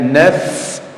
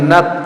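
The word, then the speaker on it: نفس: fisamawati wal ardillah qulillah kataba ala nafsihi rahmah ala nafsi naf ya naf jangan Nak, tapi naf. Huruf fa itu ada hamsnya. Jadi ada hembusan nafas yang mengalir ketika diucapkan.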